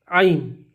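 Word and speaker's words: ع: ऐन ऐन को हम गले के बीच से निकालेंगे।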